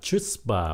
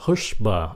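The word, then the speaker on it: chutzpah: Chữ này các bạn nhìn vô tưởng phát âm là chuspa, mà thật sự không phải là âm ch, nó là âm h. Nó phát âm là hushba, âm h. Mình phải khạc cái đó. Nó phát âm là hushba, nó của Do Thái. Hushba.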